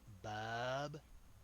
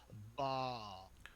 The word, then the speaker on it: Bawb: Yes, you're Bub. No, How it's do you say Bawb. Oh, it's Bob. You gotta say it like you're drinking some fine wine, Val. It's Bawb.